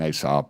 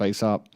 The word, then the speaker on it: ESOP: And sure enough, they were one of y'all, an ASOP or how do you say it, ASOP? ESOP.